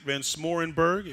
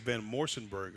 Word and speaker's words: Van Smorenberg: Isaac Van Smorenberg. And now there we go. I got it. I think I said Van Morsenberg. Van Morsenberg. Yeah, I said it wrong.